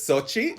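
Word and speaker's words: Xochitl: gonna try it was is it just show t gomez is that how you pronounce it so that was actually supposed to be my name if i had been born a girl is it really it's yeah so it's sochi which is an aztec word for flower okay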